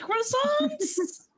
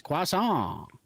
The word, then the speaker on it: croissant: I was like, "Okay, if you want a planet filled with croissants, you're saying it wrong again. It's quasant."